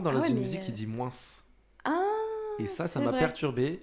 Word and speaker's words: moins: Je lui dis la prochaine fois que tu dis moins, tu prononces pas le S.